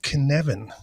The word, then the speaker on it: Cynefin: in in time so it's called kinevin if you read the episode title you probably did not expect that to be the